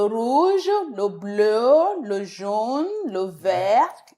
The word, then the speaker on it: le vert: Le vert. Le vert. Le vert. The T is silent.